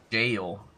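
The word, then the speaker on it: gaol: of the worst, because even the pronunciation doesn't change. So all it does is make people pronounce it wrong. Oh, I see. Yeah. Jail. It's called jail. Oh, that's right. It is just jail.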